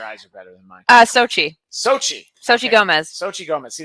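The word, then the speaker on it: Xochitl: See, we're looking up America Chavez, and oh yeah, see, you've got the pronunciation. I'll let you take it. Your eyes are better than mine. Sochi okay.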